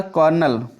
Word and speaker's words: colonel: अगला होगा कॉर्नल, COLONEL, कॉर्नल। कॉर्नल से होता है, आप कोलोनल पढ़ सकते हैं स्पेलिंग याद करने के लिए।